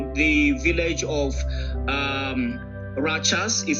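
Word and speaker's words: Rachas: the 14th in the village of um Rajas is spelled R A C H A S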